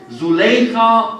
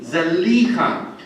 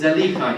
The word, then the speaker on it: Zuleika: servant of Aziz and his wife Zuleika, or perhaps more correctly Zalika. But it is probably more well known in our community to pronounce the name as Zuleika, but it seems actually the more correct pronunciation is Zalika.